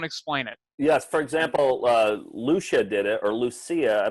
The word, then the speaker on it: Lucia: Well, let's get to the bottom of this, because Lucia is 3 syllables. Lucia would be 2.